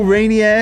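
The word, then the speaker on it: Reinier: it come on boys oh there you go rainier is how you say his name a little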